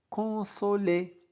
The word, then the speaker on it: consoler: le voir, pour le consoler. Donc quoi? OI se prononce soit. OU se prononce ou. ON se prononce on, con. Et ER se prononce et.